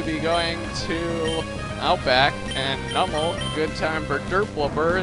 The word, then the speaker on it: Numel: And before any of you say that it's pronounced Numel, because I watch the Pokemon episodes and it's pronounced Numel in there, and in the English language, when you see a vowel, a consonant, and a vowel, you're supposed to have a long vowel consonant vowel sound for the first letter, and